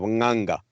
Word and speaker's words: nganga: is in central africa shamans go by the name of ganga so she was a anganga however most of the